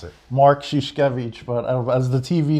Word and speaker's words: Mark Szuszkiewicz: high school so uh our next guest is mark skuskevich did i get that right no nobody does how do you pronounce it mark shishkevich but as the tv name like i said